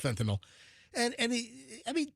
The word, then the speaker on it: fentanyl: He says, "Fentinol," which is the wrong way to pronounce it. It's fentinyl, not fentinol. It's not like Tylenol. It's fentinyl.